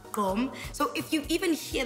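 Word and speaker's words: gqom: Gom is spelled G-Q-O-M, but pronounced gom.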